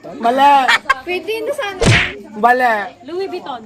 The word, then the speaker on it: Louis Vuitton: At tama na may spelling pero iba kasi yung pronunciation. ha? Mali. Pwede na sana. Mali. Louis Vuitton.